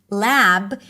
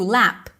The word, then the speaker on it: lab: So for example, in the word lab that ends with a voiced b sound, lab, instead of adding a vowel, they might just devoice it and turn it into lap, lap, because P is okay at the end of words, okay?